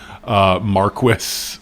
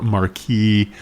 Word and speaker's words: Marquis: And I thought both of those two doubles, both the Perry, Rubber Coleman, and the Marquis or Marquis, but they're both acceptable pronunciations, or as I say, pronunciations.